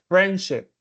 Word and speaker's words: friendship: Por ejemplo, en friendship, me dijiste friendship instead of friendship. El estrés va al principio. Friendship, not friendship.